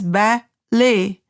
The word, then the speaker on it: ballet: Like in ballet it is pronounced as ballay, whistle, alarm, psychologist.